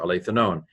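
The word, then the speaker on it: ἀληθινὸν: This is alethanon, alpha lambda eta theta iota nu omicron nu, alethanon.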